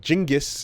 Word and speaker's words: Genghis: about uh not well, I was going to say Genghis, but Jingis is depending on your pronunciation, uh Khan and like